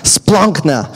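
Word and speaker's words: σπλάγχνα: it uh it's Splunk they didn't actually pronounce it that way I'm sure but that's how how it's pronounced splunkna and it's funny because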